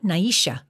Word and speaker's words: Nisha: name yes to kihala Naisha the first name had its emphasis on the second syllable to kihala the second name sounded like three syllables Naisha I recognize the Lena